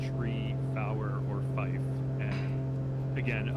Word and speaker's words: tree: or air traffic controller say tree power or fight even though even though by the book that is the correct radio pronunciation of three three yeah what's less